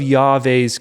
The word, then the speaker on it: Yahweh: bore the ark of Yave's covenant to all the elders of Israel. Now I'm pronouncing Yahweh the way Moses does.